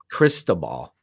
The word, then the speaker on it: Cristobal: Cristobal.